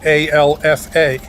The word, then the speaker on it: Alfa: the pH words differently so in order to avoid confusion the phonetic alphabet the word Alpha is spelled a-l-f-a because that has the highest success of being pronounced correctly in most of the NATO countries when they pronounce the word Alpha Alfa the next word on